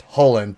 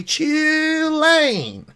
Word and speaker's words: Chulane: I know, it's pronounced Holland, but I'm a hick, so I'm going to say Chulane.